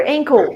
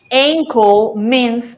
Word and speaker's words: ankle: is yes and cool careful with this because their pronunciation can be confusing because we have another word in english that is very similar that is uncle yes uncle means feel but enco so that is different okay uncle and ankle